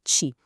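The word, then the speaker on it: 气: A gente pronuncia ti.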